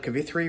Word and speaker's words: Kavithri: Just a quick check-in to say I started Kavithri, which now I can pronounce correctly because I'm listening to the audiobook by Aman J.